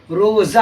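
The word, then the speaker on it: روزہ: क्या प्रोनाउंसिएशन? रोजा है। जब रोजा है बच्चों तो आपको पता चल गया है जा की आवाज निकल रही है।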